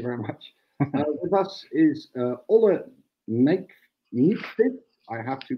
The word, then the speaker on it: Olle Nykvist: with us is Olle Nijkvist. I have to pronounce this well.